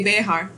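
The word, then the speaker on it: Béxar: we have the Battle of San Antonio de Behar spelled VA XA arts bear Behar's I pronounced it long story short said innocence Colonel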